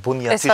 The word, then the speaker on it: Buniatishvili: Habe ich das richtig ausgesprochen? Bunyatishvili. Es war perfekt.